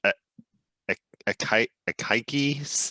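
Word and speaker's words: Akaike: is a lot of pages, but was it a Kaike's information criteria? I don't think I've ever actually heard that pronounced out loud.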